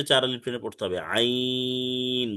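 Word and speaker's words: عين: আইন হচ্ছে চার আলিফ টেনে পড়তে হবে, আইন। গলা চেপে পাতলা আওয়াজে পড়তে হবে, অর্থাৎ কণ্ঠনালীর মধ্যখান চেপে পড়তে হবে, আইন। কণ্ঠনালী চেপে, আইন।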